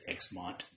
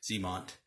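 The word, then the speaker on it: Xamot: I said Xmont. I think that's how I used to pronounce it back in the day. But yeah, Tomex and Zemont.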